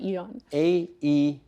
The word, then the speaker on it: Aeon: So there's, I call it Aeon, some people call it Eon. O-N. Aeon, Eon, whatever.